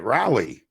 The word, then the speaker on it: Raleigh: I got it, Raleigh.